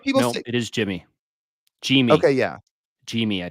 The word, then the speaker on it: Yimi: said oh yeah you're right no it is Jimmy JY okay yeah JY I think G the pronunciation J M JY Garcia and he's yeah